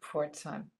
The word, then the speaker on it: Pforzheim: order to travel to Port time Port time here you see how you pronounce it it's sometimes a